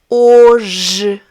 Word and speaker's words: hoje: The letter H is silent in Portuguese. We have words, as you can see, that start with the letter, but it does not have any sound.